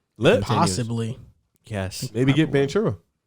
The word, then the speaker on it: Banchero: maybe get Banchero. Boncaro. Thank you. That's how you say it. I mean, I guess Wait, probably like Holmgren. Italians probably pronounce it Boncero, and probably Americans pronounce it Boncaro.